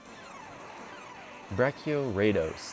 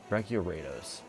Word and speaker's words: Brachioraidos: episode on this guy bracio raidos that's how you pronounce it brachiorados or at least that's how I'm gonna pronounce it great right instead yeah